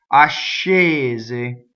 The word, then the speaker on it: ascese: So S-C-E is sh. Ascese.